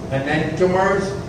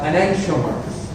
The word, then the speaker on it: enantiomers: You can pronounce it enantiomers or enantiomers. Spellings are the same. It depends the way you like to pronounce.